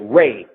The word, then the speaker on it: Ra: So then you got a dimension that everything is re, or as the Egyptians pronounce it, Ray.